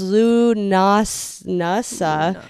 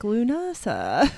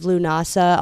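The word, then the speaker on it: Lughnasadh: the first one is Lunas NASA which I said wrong I I was trying to pronounce it my head I'm like lunasa lunasa so that one is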